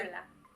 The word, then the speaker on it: Kyllä: It's hard to even pronounce. Yeah. Kyllä. Yes. Killa.